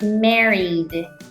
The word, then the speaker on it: married: sound like studied studied the same thing happens with Mary so it should sound like married mary did the reason